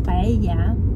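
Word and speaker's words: paella: Paelia tulisannya bacanya Paya. Kalau di SP eh Spanish enggak disebutin L-nya.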